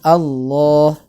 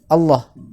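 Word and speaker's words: الله: ada hurufnya artinya minimal ketika kita membaca lafadz Allah itu minimal tiba-tiba dipanjangkan dua harokat itu ya allohu allohu Moh minimal seperti itu bukan membacanya Allah Allah Innallaha wa Allah Allahu akbar Allahu akbar ini seolah berarti menghilangkan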